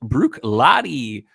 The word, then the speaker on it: Bruichladdich: That's pronounced Bruichladdich.